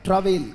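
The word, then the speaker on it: travail: शश बोले very good T आर ए ये आर है बेटा वी ए आई एल उच्चारण है ट्रावेल क्या पढ़ा जाएगा वेरी गुड ट्रावेल आर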